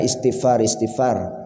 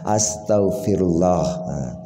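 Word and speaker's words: Astaghfirullah: ampunlah kepada Allah ya jadi Bacanya jangan istigfaristigfar tapi ya Astagfirullah nah kemudian orang lain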